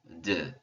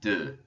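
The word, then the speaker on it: deux: d also you'll notice i'm not pronouncing the x in the french language the last letter saved for a few different sounds is always silent so d notice you don't hear the x at all there are going to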